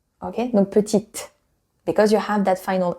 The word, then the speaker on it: petite: But if there is an additional I, donc la lettre E, after, then you do pronounce that T. Okay? Donc petite, because you have that final I.